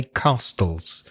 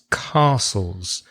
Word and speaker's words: castles: the word castles because it has a silent T and I hear some of my students say castles no it's castles CAS TLDs castles what